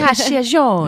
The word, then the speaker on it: Cacciagione: Cacciagione. Yes, I love it. I say it like this.